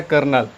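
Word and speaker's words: colonel: word है यह कर्नल तो कर्नल का स्पेलिंग देखेंगे इंग्लिश में इस प्रकार से होता है कॉलोनल और पढ़ा जाता है कर्नल इसके पीछे कारण यह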